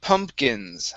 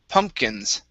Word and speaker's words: pumpkins: okay next is um pumpkins all right so make sure to pronounce that second p pumpkins pumpkins very nice and